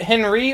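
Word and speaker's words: Henri: my name is it Henry or hry Henry Hen Henry Henry it's it's Henry but it's you know of course in the game it's pronounced like more uh French more uh French H my name's Henry and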